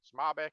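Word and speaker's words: SMOBC: the acronym SM OBC some people add a vowel sound in there pronounced Mobic but you know whatever um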